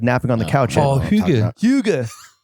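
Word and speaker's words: hygge: Huga. How is it pronounced? Huga.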